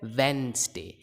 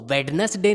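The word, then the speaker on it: Wednesday: वो है ये है वेंसडे। इसको वेडनेसडे नहीं बोलते हैं, वेडनस नहीं बोलते हैं, वेंसडे। वेंस जैसे वेन होता है वैसे ही वेंसडे। अगला वर्ड है बहुत ही कॉमन और है ये है श्योर या फिर शॉ।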